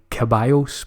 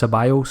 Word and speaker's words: Ceballos: me messages last week complaining about my caballos pronunciation so I'm told it's Ceballos so I'm gonna try and get that way from now on so the Arsenal man